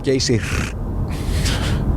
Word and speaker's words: Geysir: You have to roll the R. Geysir.